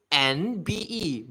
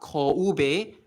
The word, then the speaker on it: Kanbe: It's actually Kanbe, but they romanize it as M, so it's not Koube, but Kanbe.